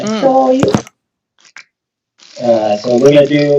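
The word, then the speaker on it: 醤油: Shoyu. That's how you say it in Japanese, by the way. Shoyu.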